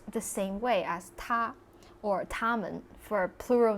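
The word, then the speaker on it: 他: they all these like pronouns they're actually all pronounced the same way as ta or tamman for a plural number of people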